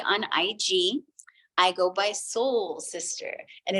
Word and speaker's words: Sol: I go by Soul Sister, and it's not Soul Sister, Go Sister, it's SOL Sister. So it's like this sun. So Soul, it's SOL_sister, and it's SISTER, because it could be sister with me, but it's sister.